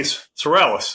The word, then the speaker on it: Sorrells: this busy schedule and the none other Sorales. Did I pronunciate that right?